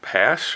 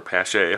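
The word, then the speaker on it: Paasche: airbrush I'm using is just a pass or pass a Howard's pronounced does have the double action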